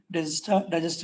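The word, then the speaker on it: Dijkstra: which is register algorithm K is silent digesttor algorithm all pairs shortest path and algorithm of sparse graph.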